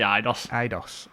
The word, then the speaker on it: Eidos: I always say Eidos.